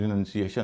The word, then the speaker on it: renunciation: जैसे एक शब्द है RENUNCIATION, इसका उच्चारण रिनंसिएशन होगा क्योंकि इसमें 4 वावल हैं।